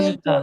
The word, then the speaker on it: गच्छन्ता: जो, हाँ, तो जो बिंदी है ऊपर, उसका प्रोनाउंस न होता है ना कई जगह गच्छन्ता। पे। हाँ, गाथा गच्छन 17। हाँ, गच्छन्ता। हाँ, अच्छा। तो कईयों में म आता है, इसमें न आया, इसीलिए।